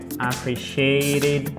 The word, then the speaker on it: appreciated: Appreciated. Le T, encore une fois, bah là, on n'a que des T qui se prononcent presque comme un D.